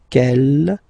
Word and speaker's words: quelle: Okay, quel here, feminine singular, will become quelle with the S, feminine plural. And the good news is that you will pronounce them the same way.